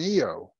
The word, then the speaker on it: Io: moon is just a little bit smaller than eo that's how that's pronounced by the way so uh let's take